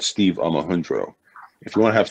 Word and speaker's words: Omohundro: And this is a theory that was established by a man called Steve Omohundro. If you want to have some fun, Google Omohundro, which is spelled phonetically Omohundro.